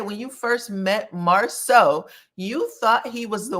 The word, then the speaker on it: Marsau: She was calling him Marcel, a combination of Martell and Marsau. Martell had to say his name is Marsau at least twice.